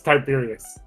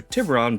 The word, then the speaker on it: Tiburon: I I I think it's pronounced as Tiberius. No. Yeah, it's Tiburon.